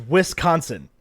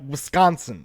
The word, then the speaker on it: Wisconsin: say it right Oh everybody else says Wisconsin and you're like Wisconsin it's like one like SC syllable there together who's come I can't